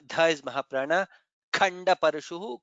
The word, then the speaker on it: खण्डपरशुः: Khanda Parashuhu, Kha is Mahaprana.